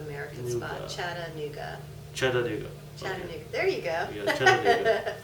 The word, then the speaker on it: Chattanooga: have a problem he's trying to pronounce Chata oh chatanuga oh oh Chattanooga yeah Chattanooga okay like Chattanooga Cho Chu have you ever heard